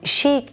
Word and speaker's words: chic: So chic is fashionable and the pronunciation is chic, okay?